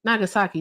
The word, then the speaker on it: Nagasaki: Nagasaki.